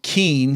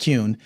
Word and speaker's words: Kuehn: Okay, well, folks, my guest has been Daniel Kuehn, even though it should be pronounced Kuehn.